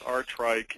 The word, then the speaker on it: Aartrijk: You can stare at those letters all you want, but it's pronounced Aartrijk, and Aartrijk is a town in northwestern Belgium